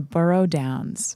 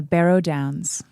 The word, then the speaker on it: Barrow Downs: fog okay def fog on the burrow Downs nope I said it wrong but okay but you borrow fog on the borrow Downs Barrow down oh my God St Barrow Barrow Barrow okay sorry fog on the Barrow Downs thank you so much